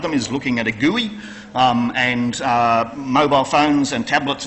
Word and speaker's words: GUI: GUI, G-U-I, Graphical User Interface, pronounced GUI, are the things that